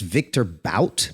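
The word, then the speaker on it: Viktor Bout: They traded Brittney Griner for a gentleman that goes by the name of, I think it's pronounced Victor Bout, B-O-U-T.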